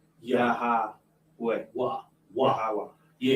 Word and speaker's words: Yahweh: So if you want to go back to the ancient biblical translation of God's name, it's Yahweh. Yahweh. And it's pronounced with like a breath of air coming out. Yahweh.